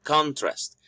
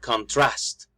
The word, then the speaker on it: contrast: The stress is in the first syllable, contrast. But we can actually stress the second syllable and then we will say something like contrast. It makes a difference because in the first one we are saying a noun.